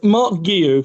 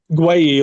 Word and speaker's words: Marc Guiu: So the first question, how do I pronounce it? Uh it's Mark Guillu.